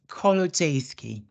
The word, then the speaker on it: Kolodziejski: all okay right so my surname is pronounced color Jayski okay so we have